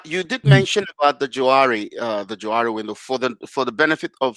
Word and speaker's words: Johari: And so it's kind of funny, that one guy's Joe and one guy's Harry, and so it's called the Johari window. You switch the pronunciation, it's the Johari window.